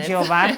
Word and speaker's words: Ijeoma: Yes, you're pronouncing it Ijeoma.